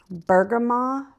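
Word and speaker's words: bergamot: and I think it's you don't pronounce the tea so mango and bergama bergama and it's a green tea with flavoring and it is really delicious.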